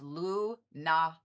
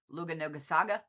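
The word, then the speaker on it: Lughnasadh: So, the big long word that ends with H is actually pronounced Luna, not Luga or however.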